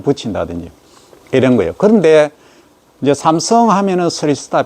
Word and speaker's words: 삼성: 샘성, 미국 가면 샘성 합니다. 삼성 발음면 샘성 하면 샘성.